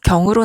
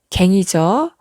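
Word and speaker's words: 更: 고치다일 때는 발음이 경으로 나고요. 그래서 우리 올림픽에서 기록 경신이란 말 들어보셨죠? 기록을 새롭게 고쳤을 때 기록 경신이라고 하고요. 다시라는 뜻이 있을 때는 발음이 갱이죠.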